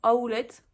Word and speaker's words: Howlett: Donc je me suis acheté un enraînement à Howlett. Pas à roulette, à Howlett. Donc ça s'écrit Howlett.